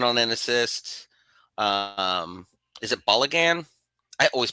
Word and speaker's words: Balogun: Is it Balogun? I always pronounce his name wrong. Balogun? Florian Balogun.